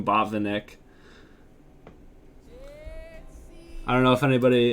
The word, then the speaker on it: Botvinnik: to because i heard i heard um hikaru pronounced his name bob vinnick so i'm assuming that that's correct but i've always been calling him bob the nick i don't know if